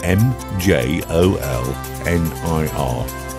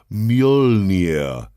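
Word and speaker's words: Mjölnir: you can pronounce it it's m j o l n i r the couple of dots yeah that was a tough one the answer is thor's hammer was called mjolnir mjolnir so um there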